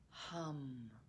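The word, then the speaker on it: ham: soul as you exhale the seed syllable is hum h-a-m with a nice vibration of the lips at the end this is done silently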